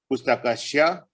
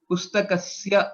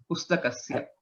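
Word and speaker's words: पुस्तकस्य: Pustakasya, that's Sya. You'll have to improve on the pronunciation. It sounds like Shya, Pustakashya. Okay. Sakara should be clear. Okay. Pustakasya.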